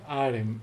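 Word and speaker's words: Harrim: is at your service okay aaron is his name the age is silent spell conversion what's that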